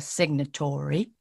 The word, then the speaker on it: signatory: picked it up like british people wouldn't say signatory it it would be signatory signatory is signatory yes yes perfect signatory it's like almost like a tree exactly right tree almost like tree and not exactly signatory as if there is no o between t and r oh wow so the